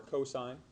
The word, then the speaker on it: cos: Cos is pronounced and stands for cosine.